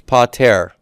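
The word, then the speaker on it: πατήρ: Yeah, it's pater. Can you spell that for me?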